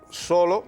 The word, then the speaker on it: solo: escrito y dice voy solo es decir acentúo ortográficamente solo en la penúltima sílaba se se acentúa siempre siempre solo en la penúltima sílaba tiene el acento prosódico pero con respecto al